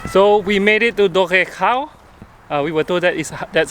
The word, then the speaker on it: Dolgellau: So we made it to Dolgellau. We were told that that's how you pronounce the city's name.